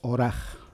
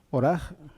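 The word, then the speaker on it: ארח: Y otra es oraj. Oraj suena distinto, se escribe con letras distintas, lógicamente es una Aleph, una Resh y una Het, oraj.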